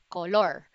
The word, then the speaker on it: color: color color color yellow color black but the proper pronunciation of it is color color you see the first and the second syllable there's an inverted letter e on it that's a schwa and that's one of